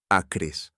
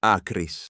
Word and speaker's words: ācrīs: Genitive singular, acri, accusative plural, acris, one macron apart on the page, and in the pronunciation of this course they sound exactly the same. Your ear cannot tell them apart, your eye can.